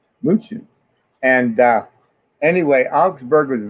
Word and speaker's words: München: München is pronounced in Deutschland. München.